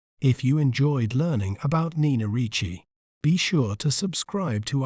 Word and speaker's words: Nina Ricci: word to better understand its pronunciation we may pronounce it as Nichi n Richi n r Chi Nina Richi Nina Richi is celebrated for its iconic pieces such as